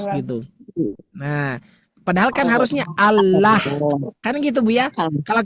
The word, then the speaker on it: Allah: Allahu. Nah, kenapa enggak dibaca Allah? Karena dia lafaz Allah harus tebal.